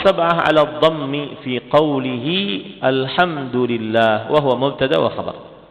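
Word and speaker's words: الْحَمْدُ لِلَّهِ: 'ala ad-dhammi fi qawlihi alhamdulillah wa huwa mubtada wa khabar. Ahli qiraat yang 7 semuanya membaca ayat ini dengan memberikan huruf dhammah pada huruf dal. Jadi cara membacanya alhamdulillah.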